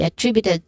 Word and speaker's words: attributed: Again, this can be attributed to the stress syllable is the first syllable of attributed, which is at.